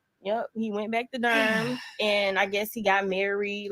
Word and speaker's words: Durham: to what I said it is pronounced Durham I guess that's part